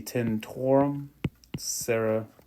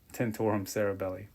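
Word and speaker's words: tentorium cerebelli: This is the tentorum cerebellar. Excuse me, it's the tentorum cerebellum. Tentorum cerebelli. Let me just spell it.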